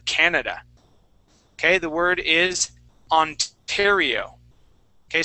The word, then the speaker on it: Ontario: The word is Ontario. Okay. So that O at the beginning will make an ah sound. Ontario.